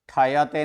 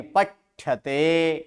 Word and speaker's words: पठ्यते: इसको ट बोला जाता है, इसको ठ बोला जाता है। पठ्यते। पठ्यते। पठ्यते। ठयते नहीं, पठ्यते।